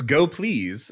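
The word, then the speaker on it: gopls: now I got to know how do you pronounce like the the language server I mean they told us it's go please so I feel like that's how is that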